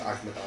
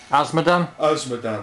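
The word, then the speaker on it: Azmodan: Agmadan, I can't pronounce it. Asmodan, that's the one.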